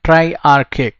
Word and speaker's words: triarchic: Now एक word triarchic, right? जिसको pronounce कैसे करना है? Archic. R is going to be silent, right?